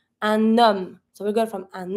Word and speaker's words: homme: It's always mute. You're never going to pronounce the H. That's the first letter of the word. And then, because we don't pronounce the H, you have a vowel after that. So, you're just going to be able to link it as if there was no vowel or no H at all.